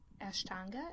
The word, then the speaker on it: Ashtanga: of your recent articles you talked about um Ashtanga is that how you pronounce it yeah so and how um like